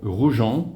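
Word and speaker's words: Roujan: Hello, welcome to the channel and welcome to the small town of Rjon or Roujon with a bit of a French accent which is spelled R O U J A N.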